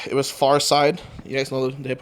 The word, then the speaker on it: Pharcyde: Night 1, it was Farside.